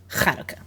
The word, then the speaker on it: Chanukah: That's what the C's for, to remind you. Yeah, it's not like I always when I say it, because I'm pronouncing it in an American accent. Right. You don't always have to, but It helps. it is technically Chanukah.